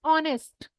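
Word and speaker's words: honest: 11थ word that is ऑनेस्ट इसमें होने नहीं पढ़ेंगे इसको यह एच साइलेंट है भाई ऑनेस्ट और ऑनेस्ट का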